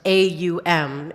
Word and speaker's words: Aum: Pronounced A-U-M in our English phonetic language.